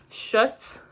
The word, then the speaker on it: Schutz: and they are by, I think this is how you pronounce it, Schutz.